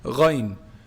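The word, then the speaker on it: غين: So this sounds very similar to the other one, but it almost sounds further down in the throat. Ghayn. Ghayn is pronounced from the highest part of the throat.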